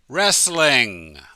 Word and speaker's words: wrestling: a sport it's professional wrestling the W is silent we only pronounce the r number six you need